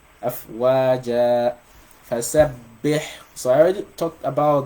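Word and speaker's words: فسبح: You cannot pronounce the shadda unless you assume you're pronouncing 2 bas, one with a sukun and the other one with a fatha. Right? So you're gonna say fasabbih bihamdi rabbika wastaghfir.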